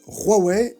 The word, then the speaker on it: Huawei: Sous la première administration Trump, Huawei, et oui ça se prononce bien Huawei et pas Huawei, donc la marque se prononce Huawei, a été accusé d'espionnage grâce à des backdoors présentes sur ses routeurs.